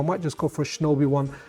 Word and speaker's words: Shinobi: In fact, if I do the SuperStation One live stream, during that live stream, I might just go for a Shinobi one. Shinobi rhymes with Obi-Wan.